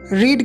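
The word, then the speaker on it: read: तो सेंटेंस क्या बनेगा, this book can बी रेड। रीड की सेकेंड और थर्ड फॉर्म रेड होती है, स्पेलिंग तीनों की सेम होती है।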